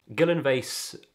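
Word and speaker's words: Gyllyngvase: mentioned is the beach guillen vase i believe that's how it's pronounced everyone shortens it to gilly gilly beach is a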